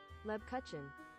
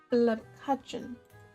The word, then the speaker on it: Lebkuchen: How do you pronounce Lepkuchen? There we go. Here we go. This is the... Oops, no. Lebkuchen. Lepkuchen.